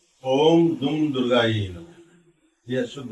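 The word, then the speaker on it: दुर्गायै: रहे हैं, कि वो बोलते हैं ओम दुम दुर्गाई नमः। यह शुद्ध उच्चारण है।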